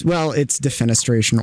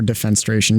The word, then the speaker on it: defenestration: It's defenestration or defenstration. You can pronounce them both ways.